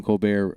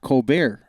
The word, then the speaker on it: Colbert: it the isn't it it's not Colbert it doesn't he say Colbert the late night show with Colt Stephen Colbert no it's Colbert that's how he pronounces it oh but anyway but